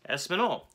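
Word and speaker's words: espagnole: veloute next up is espinol well espinol is spanish and french if you were going to say spanish in french it's espinol so what i think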